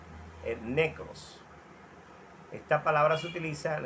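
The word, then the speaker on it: νεκρός: En griego se pronuncia necros.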